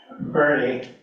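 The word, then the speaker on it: Boerne: so initially we were staying in Bernie uh it's it's spelled burn but Texans don't know how to talk so Texas down here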